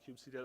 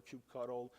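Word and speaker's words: kubectl: do things with uh Cube CTL or cube cuddle if you say it wrong uh so CU C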